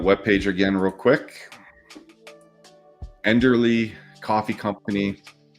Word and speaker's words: Enderly: quick enderly coffee company I keep wanting to say elderly I don't know why I have to think about it before I say it to make sure I say it correctly enderly it's not elderly um we'll get more